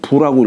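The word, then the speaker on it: 復: 기부 유물화 어찌 이게 회복할 복자를 다시 한다라고 할 때는 부라고 읽어요. 다시 부 어찌 다시 물이 있으랴.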